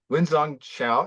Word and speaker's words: Wengzhong Xiao: Wengzhong Xiao. Is that how you say? Is Yeah, that that's correct perfect.